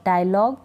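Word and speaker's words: dialogue: यू ई अ इन जी यू ई का उच्चारण हम ग पढ़ेंगे इनको जैसे क्या पढ़ेंगे कैटलॉग कैटलॉग डायलॉग टंग यानी ग ग पढ़ रहे हैं इनको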